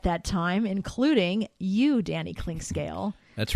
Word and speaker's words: Clinkscale: she made for me my name is spelled clink scale very simply clink and then scale like a you step on to weigh yourself and she spelled my